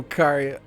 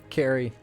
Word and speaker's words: Kari: totally be late oh Kari Carrie oh I said it wrong again Carrie Carrie yes I'm sorry I hope you are not late for work I I just got caught up in the story I gotta keep going I know I caught I caught myself I said it wrong I don't know why that's such a natural reaction when I read the k ah nothing has changed